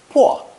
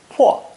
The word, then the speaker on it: 迫: Together, the combination is pronounced fourth tone, 破, 破.